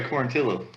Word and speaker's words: Quarantillo: Is that how you say it? Because that's the rule. Traditionally, yes, but this guy goes by Quarantillo.